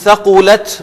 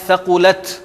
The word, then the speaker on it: ثَقُلَتْ: یہ ایک تو آپ نے تا کو پرومیننٹ کرنا ہے ثقلت, اور سا نہیں ہوگا, ثقلت نہیں کہیں گے ہم, ثا وداؤٹ وہ جو سفیر سی ٹی کے میں آپ سے عرض کر رہا تھا.